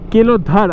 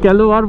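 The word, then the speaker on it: Kelodhar: দেখলে রাস্তা দিয়ে যাচ্ছিলই সরি এটা কেলোধার আমি এতক্ষণ কেলোয়ার বলছিলাম কেলোধার উচ্চারণটা একচুয়ালি মাইলস্টোনে হিন্দিতে লেখা ছিল তো যেটুকুনি আমি বুঝতে পারছিলাম সেই হিসেবে বলছিলাম তো নামটা হচ্ছে কেলোধার আর কেলোধারে তিন কিলোমিটার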